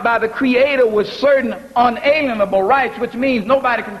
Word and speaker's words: unalienable: Now, not inalienable, unalienable. Now, what is the root of that word unalienable? It's one small word spelled where am I? Make sure I get it right. It's spelled L-I-E-N, lean, unalienable rights.